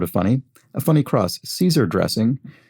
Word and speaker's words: Caesar: funny a funny cross caesar dressing could also pronounce that kaiser dressing which is how closer